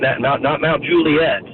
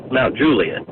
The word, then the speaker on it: Mount Juliet: was a weird one, but Mount Juliet, not Mount Juliet, Mount Juliet. Oh, yeah. Someone else just put that in the chat. I appreciate it, Brian. Mount Juliet.